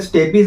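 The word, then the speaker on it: stapes: कई लोग उसे स्टेपीज बोलते हैं, पर मैं प्रोनाउंसिएशन यहाँ पे स्टेप्स जो है वो करने वाला हूँ। प्रोनाउंसिएशन वेरी करता है पर्सन टू पर्सन। ठीक है, तो 3 बोन्स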